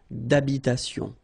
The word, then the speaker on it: d'habitation: Remember, H doesn't exist in French, well, in most of the cases. So, it does mean that you don't pronounce it, all right? So, d'habitation.